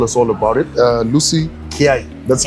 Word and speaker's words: Lucy Kiah: here to tell us all about it uh Lucy K that's how I oh thank God I pronounce it the correct way Lucy K she's the head of credit at Essa Safar